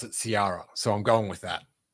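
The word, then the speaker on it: Sariah: at ciara wilson s-a-r-i-a-h i thought it was sarah but bad motivators or it might have been on the sith list but uh eric struthers pronounced it ciara so i'm going with that because he's far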